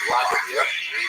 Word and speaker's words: Vladimir: What's especially important in its history is the conversion of one of its leaders, Volodymyr, pronounced Russian Vladimir, shown here as a statue overlooking the Volodymyr made a decision basically.